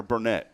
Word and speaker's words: Burnett: our good friend Burnett from Hearts Veterans Museum I gotta welcome in now miss Burnett am I saying that right is it burn it or Burnett it's Burnett I thought it was